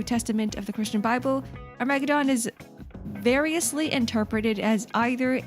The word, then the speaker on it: Armageddon: Armageddon. Guys, I've been pronouncing it wrong this entire time. It's Armageddon. I told you? See, when I say Armageddon, it sounds like a freaking dinosaur.